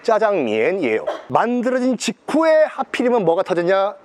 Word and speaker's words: 짜장면: 장을 볶아서 먹는 면이다 해서 작장면이 뭐 자기들 발음은 짜장면이에요.